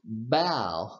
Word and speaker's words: bow: We pronounced bow because here this word is a verb. Okay? If we use this same word as a noun, okay, I have this note here. Bow as a verb versus bow as a noun. Okay? The noun is pronounced bow.